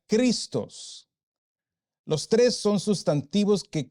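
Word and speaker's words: Χριστός: la relación allí y el sustantivo Cristo que es ungido Mesías Salvador se pronuncia cristos los tres son sustantivos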